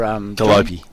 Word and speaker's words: Gollop: How's that name pronounced there? Galopi. Galopi. Yep. Jackson Galopi. French? Kind of French, isn't it? Galopi. Yeah. Scallopy.